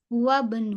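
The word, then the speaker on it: وَابْنُ: hu hunu huabnu nah ini adalah konsep eh eh hamzatul wasl ya W wabnu wabnu seperti itu wabnu wabnu wabnu eh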